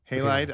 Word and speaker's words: Halide: you halide halide yeah that's what I say halide I don't that sounds like it's not Hal